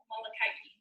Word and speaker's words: Molokai: the leprosy colony called molokai malakai is how they pronounce it and she is just